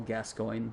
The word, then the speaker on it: Gascoigne: player - you Americans Paul Gascoigne that is how you pronounce that name at least that's how he did can you talk that